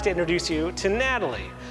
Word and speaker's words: Gnatalie: to introduce you to Natalie Natalie spelled with a g n Natalie because of the Nats